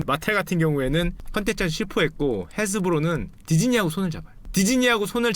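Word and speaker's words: Hasbro: 완구 쪽 계시는 분은 당연히 마테라고 하스브로 다 아는 데인데 지금 여기 있죠. 헤스브로라죠. 헤스브로. 하스브로가 아니라 헤스브로라 그러는데 발음이 안 좋아 죄송합니다.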